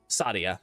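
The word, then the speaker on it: Saadia: Sadia. Yeah, that that is true. That that is the correct pronunciation.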